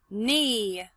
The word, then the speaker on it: knee: Knee, silent K.